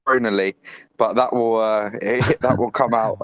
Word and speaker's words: Chronolyio: The only thing I picked up on is I think he pronounced it as chronology. It's pronounced chronally, but that will come out a lot through this conversation, so that's fine.